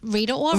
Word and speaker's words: Rita Ora: Rita Ora, or as Danielle says, Hey, Rita Ora.